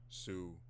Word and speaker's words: Sioux: And by the way, I made sure I pronounced Sue the way it's supposed to be said, because